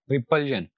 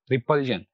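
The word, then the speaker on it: repulsion: पर पुट करते हैं, तो यहाँ पर आखिर से दूसरा वाला सिलेबल है पल, तो it will be pronounced like this, रिपल्जन, रिपल्जन, यानी जो स्ट्रेस होगा वो पल पर आएगा।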